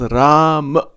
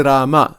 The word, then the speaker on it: Ram: Ram. It's okay. Sometimes people say Rama. That's all right also. It's the same.